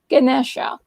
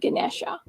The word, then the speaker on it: Ganesha: is and then ganesha when you say ganesh that's the hindu way of pronouncing the god ganesha then the when you have an a at the end that's a sanskrit pronunciation of ganesh so that's that's the reason why when i said ganesh and hinduism drops the vowel at the end but in this case